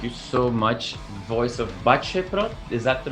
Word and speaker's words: Baceprot: Thank you so much, Voice of BACEPROT. Is that the right way of pronouncing it? Ya, BACEPROT ya.